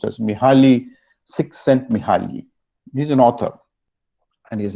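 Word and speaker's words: Mihály Csíkszentmihályi: It is actually pronounced as Mihaly Csikszentmihalyi.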